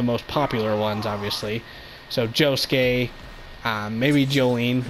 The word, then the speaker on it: Josuke: Yeah, that's how you say his name. Josuke.